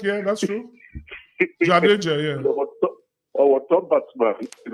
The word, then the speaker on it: Jadeja: You know, I was comparing him to Jedisha or whatever how the name is pronounced. Indian spinner. You know, this Indian spinner that's number 7 for India. You mean Jadeja?